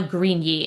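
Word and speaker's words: Grigni: So yeah, that is Mama Moon, a story about love and mental health by Noah Greeny. And Greeny is spelled G R I G N I.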